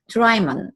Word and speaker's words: Drymon: today it's my privilege to be interviewing Shelley drymen did I pronounce that right and forward way thank you